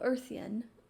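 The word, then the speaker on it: Urthyen: something in the kingdom of erthian which is spelled u-r-t-h-y-e-n i assume it meant it's like a play on earth like the earth in the kingdom of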